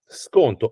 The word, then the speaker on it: sconto: Sconto, S-C-O-N-T-O, sconto. So you say sconto per favore, nice smile, sconto per favore, you pronounce it in Italian, good or bad pronunciation, doesn't matter.